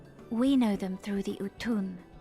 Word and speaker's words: Utun: We know them through the Utun, like my grandmother. So it's said like U-T-U-N, Utun, but it's like Udgun, Udgun, Utun.